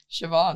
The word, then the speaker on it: Siobhan: spelled yeah s i o b h a Shin savan sioban yeah yeah a there was one girl also